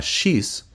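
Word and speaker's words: Shiz: tiempos ahora veremos a shis Sí así se pronuncia su nombre así se escribe shis quien es el último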